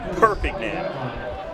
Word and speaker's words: Perpignan: Perpignan. Emphasis on the first syllable.